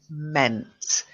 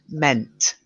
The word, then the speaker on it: meant: then the next one meant if you don't get the T at the end it's going to sound like men and because we're talking